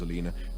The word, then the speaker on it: Alina: It was about a week ago, when Dirk had tried a simple subterfuge to trick Alina, the old bat's name was Alina, pronounced to rhyme with cleaner, which was an irony that Dirk now no longer relished, into opening the fridge door.